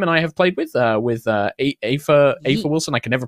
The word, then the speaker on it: Aoife: Some folks that we have, Kim and I have played with Aoife Wilson. I can never pronounce her name. I always worry. Aoife. Like Tifa. Yeah. Aoife. But without the T.